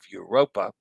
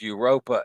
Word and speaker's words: Europa: For this ship name, I would go with the English pronunciation of Europa, since it's World Europa and not Mondo Europa. Roll the R.